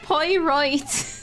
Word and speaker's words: Poirot: It's pronounced Poirot.